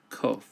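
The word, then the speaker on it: קוף: Qof sounds like the letter Q in English. Qof.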